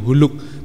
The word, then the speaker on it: Hulk: dulu saya itu mengenal dengan sebutan Hulk membacanya bacanya begitu Hulk tulisannya haul ke-7 dicapkan jadi membacanya apa mengucapkannya Hulk film itu adalah menceritakan